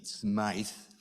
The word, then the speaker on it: Smyth: you Charles piazzi Smith purists would say that he pronounced his name Smite up from Scotland there